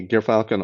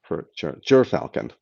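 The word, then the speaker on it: Gyrfalcon: Jeff L asked, did I ever review or plan to look at the Gear Falcon All 80, excuse me, Ger, Ger Falcon, Ger Falcon.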